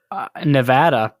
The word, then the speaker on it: Nevada: say you lived in Nevada you got it that's how they pronounce it right yes they say Nevada not Nevada you got